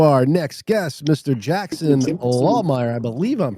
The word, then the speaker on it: Lahmeyer: Jackson Lawmire. I believe I'm pronouncing that correctly.